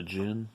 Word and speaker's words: djinn: The djinn, I think the D is silent, who is really, really fucking evil.